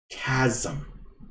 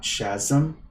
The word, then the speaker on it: chasm: cavern that doesn't work chasm and not chasm oh my gosh have i been pronouncing it wrong the whole time that's so awesome yes my bad okay chasm not chasm just want you to